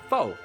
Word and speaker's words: pho: You might say pho. I think that's right. That is the delicious noodle soup, and it is good. Or you also might say pho. That is a prostitute. Don't say that. So say it right when you order it.